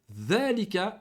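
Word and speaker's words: ذلك: On va déjà expliquer ici, comme hada, dhalika, al-kalimatu dhalika, tuntaqu dhalika, wa tuktabu dhalika. La même chose. Ici, dhalika, on le prononce avec une prolongation après le dhal. Dhalika. Et on l'écrit sans.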